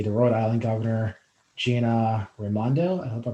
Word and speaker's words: Raimondo: going to be the rhode island governor gina raimondo i hope i pronounced that correctly that's correct thank you sir